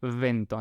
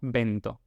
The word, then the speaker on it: vento: En esperanto tenemos la palabra, por ejemplo, vento, que significa viento, y se pronuncia vento, no vento, que sería ya otra cosa.